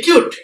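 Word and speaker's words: cute: শব্দের শেষে ই থাকলে ইউ এর উচ্চারণ যখন ইউ হয়। ঠিক আছে? আমরা দেখে নেব। সি ইউটি কিউট।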